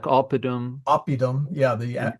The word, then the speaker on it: oppidum: syllable before the second. Yeah, Yeah. Yeah. like oppidum Oppidum.